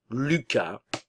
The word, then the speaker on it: Lucas: Au masculin, tout d'abord, nous avons Enzo, Lucas, n'oubliez pas ici le U français, boca de O y pronuncia I, U, Lucas, Hugo, encore une fois